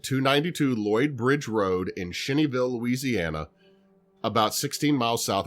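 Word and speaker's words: Cheneyville: It is located at 292 Lloyd Bridge Road in Shinnyville, Louisiana, about 16 milesi south of Alexandria. Shinnyville.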